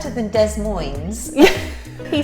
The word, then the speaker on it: Des Moines: It's not Des Moines, it's Des Moines. I like that one, Des Moines. Des Moines it's a nice name, It's isn't nice, it? yeah. Sounds better than Des Moines.